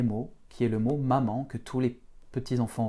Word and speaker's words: мама: Donc l'accent que je viens de mettre sur la première syllabe ma, c'est l'accent tonique du mot mama. Ça signifie que cette première syllabe est très accentuée, tandis que la deuxième se prononce presque comme m. C'est presque un e derrière.